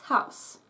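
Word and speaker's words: Haus: as you can see pronounced very very much like the English house but take care not to do that ow it's just ow you don't have that again that English twang is missing ow ow house house house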